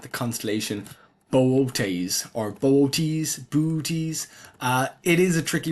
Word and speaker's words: Boötes: The thing is that you're meant to pronounce these two O's separately.